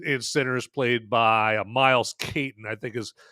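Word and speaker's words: Caton: boy Sammy in in Sinners, played by Miles Kaitton, I think is how you say his last name. I was I was watching a video with Ryan Cougler, the director of Centers, and he pronounced it, Kaitton.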